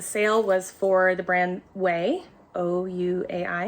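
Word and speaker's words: OUAI: was for the brand way o-u-a-i it's pronounced way and it is a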